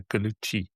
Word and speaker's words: Gallucci: of your name is people see the C's and they pronounce it kind of an American way, but not in the Italian way. So Gallucci, so ch is the C.